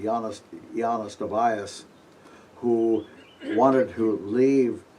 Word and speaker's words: Ioannis: There was a gentleman named Ioannis, well, pronounce it correctly, Ioannis Stobaeus, who wanted to leave his son with